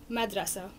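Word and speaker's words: مدرسة: They're not actual vowels, except for the end one which is -- we write as a T but we don't pronounce. So it goes as an ah also at the end.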